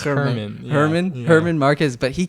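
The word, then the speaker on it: Germán: German. How do you say his name? I think it's Herman.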